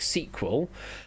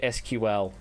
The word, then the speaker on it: SQL: So SQL, I do pronounce like sequel. So does GIs and so does Dalton. And I'm weird. I do say SQL. I say them individual letters because for me it doesn't make sense as sequel.